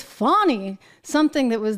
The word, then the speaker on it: Fani: care about pronunciation and I've been saying Fanny but apparently it's funny something that was not